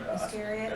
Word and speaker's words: Iscariot: Iscariot.